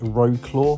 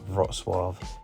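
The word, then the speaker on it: Wrocław: polish to see is rosw again it's not pronounced Ro claw but it's pronounced something like rosave you do have some really stunning architecture in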